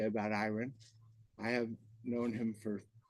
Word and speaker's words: Iran: away when people met iron they often commented on his name because it is spelled the same as the name of the Middle Eastern country but pronounced differently I recall asking iron's mother Mildred about the